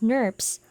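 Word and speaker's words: snRNP: out small nuclear ribonucleoproteins abbreviated as as an rnps and pronounced as nurbs are located in the nucleus of the cell and are composed of rna molecules snurbs recognize splice sites and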